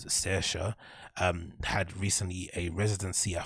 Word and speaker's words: Saoirse: Okay, Saoirse. Is that her name? Saoirse. Saoirse. Okay, cool. So this DJ called Saoirse had recently a residency at Phonox, right?